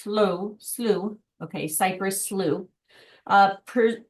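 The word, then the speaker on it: slough: So, for example, you can walk through the six mile cypress sloth uh pronounced slow.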